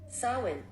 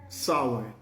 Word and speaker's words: Samhain: So it says S-A-A-W-N. So the S-A-M-H-A-I-N, the M-H is a W-N. It's all silent.